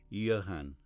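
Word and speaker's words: Jan: Yes, Joanne, I agree, Mr. Brewster gave the name its Germanic pronunciation. Yan.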